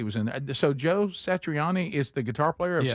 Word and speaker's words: Satriani: Satriani.